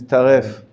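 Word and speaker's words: treif: in years is fine in Hebrew the pronunciation is tariff animals must be slaughtered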